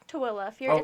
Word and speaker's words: Tooele: I thought it was Toole. It's Tooele. If I'm. Yeah, no, you're right. Tooele. Yeah. Am I? Yeah, so it's Tooele.